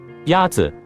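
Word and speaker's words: 鸭子: one is it Y yat is pronounced with a first tone in Mandarin there are four tones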